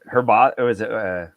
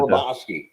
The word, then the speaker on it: Hrabosky: He and like Hrbosky? No, I'm pronouncing that wrong. The Mad Hungarian. Yeah, how do you pronounce it? Hrbosky.